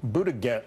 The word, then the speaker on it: Buttigieg: how do you pronounce this guy's name it's pronounced Pete Pete better get Buddha get himself and mayor Pete Buddha get Buddha gas